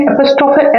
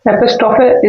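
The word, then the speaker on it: apostrophe: तो आप देख सकते हैं यहाँ पे मैंने एपिस्ट्रोफे एस का यूज करके, एपिस्ट्रोफे, इसको एपिस्ट्रोफी बोलते हैं, आप ध्यान रखेंगे इसका प्रोनाउंसिएशन भी, एपिस्ट्रोफी, राइट।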